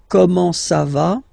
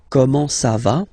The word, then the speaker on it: comment ça va: Okay, comment ça va? Okay, you raise a little bit at the end.